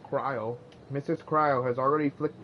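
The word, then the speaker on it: Krile: I thought it was Cryly, but I guess it's pronounced Cryo.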